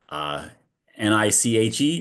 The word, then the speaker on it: NICHE: So it is the team now from NICHE, I guess.